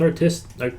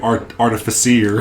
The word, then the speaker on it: artificer: Maybe battlesmith artificer? Yeah. Don't say it like I used to, artificier.